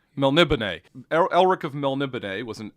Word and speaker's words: Melniboné: Yeah, I was pronouncing it Melniboné until I listened to one of the audiobooks that had an introduction from Moorcock, and it's Melniboné. Melniboné.